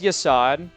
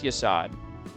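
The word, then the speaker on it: Yesod: There's Yasad. His name is spelled Y-E-S-O-D. Like this. That's Yasad.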